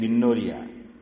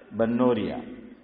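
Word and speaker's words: بنوریہ: فتاوا بنوریا, بعض لوگ با کے نیچے زیر بولتے ہیں بنوریا, صحیح تلفظ با پہ فتحہ ہے بنوریا.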